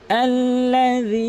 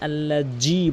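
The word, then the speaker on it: الذي: এরপর আল্লাযী আত'আমাহুম, দেখুন এখানে অধিকাংশ লোক আল্লাযী এর কাছে আল্লাজি বলে, এখানে জিমের উচ্চারণ করে ফেলে, কখনোই সেটি করা যাবে না।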